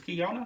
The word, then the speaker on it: Keyona: know oh that's just kiana from here excuse we went to central together what do you know what's what probably been saying your name wrong it's kiona yeah okay so nike